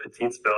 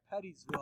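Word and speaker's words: Pettisville: Oh, it's pronounced Pettysville? Yeah. Oh my God. Yeah. I've been saying it Petitesville, I think. Yeah. Dude, I've been saying Pettysville for the last 3 or 4 years. Yeah, Pettysville, I believe, is the proper pronunciation.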